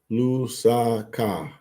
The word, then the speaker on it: Lusaka: Am I saying it right? Lusaka. That's it. Lusaka. Lusaka. Lusaka. Lusaka. Zambia. It's exciting for me today. Just say it fast.